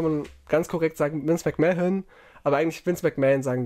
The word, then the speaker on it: McMahon: Also Man wie Mann, Mensch. Man spricht so aus, Vince McMahon, so vielleicht kann man ganz korrekt sagen, Vince McMahon.